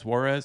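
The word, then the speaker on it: Juárez: Juarez?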